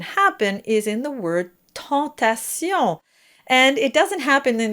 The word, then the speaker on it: tentation: So it's very tempting to say tentation, because also it looks like the number 10. But so just be very careful, practice each syllable separately.